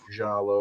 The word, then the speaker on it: giallo: them on the way to say giallo because they couldn't pronounce it they're probably getting annoyed with me yesterday i was like even though it's like jollo or a giant yeah but uh but they were saying it like guy all over and stuff